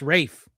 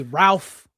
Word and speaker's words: Ralph: Yes, it's pronounced Rafe. Most people say Ralph, but it's Rafe.